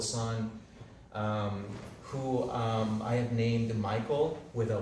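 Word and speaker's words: Mycol: And I've always loved the way that there's a alternative comic in Peru called the Submundo de Michael, and it's spelled with M-Y-C-O-L.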